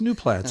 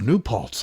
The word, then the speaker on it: New Paltz: He says, "New Platts." I said, "Look at that." Oh, New Paltz. I've been saying it wrong for 5 years.